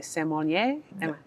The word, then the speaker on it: sommelier: So the people who are judging are they, I never know if I say it correctly, sommelier?